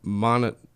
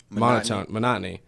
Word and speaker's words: monotony: So monotone monotony. Yeah, right. Monotony. That is how it's pronounced.